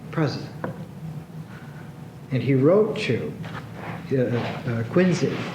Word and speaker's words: Quincy: and he wrote to quinsey It's pronounced quinsey Adams he wrote to